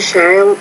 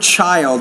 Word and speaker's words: child: Please, I visited when I was a child is Disneyland. Be careful with the word child, not child, but child. So make sure you're pronouncing the CH as a CH and not as an SH consonant sound.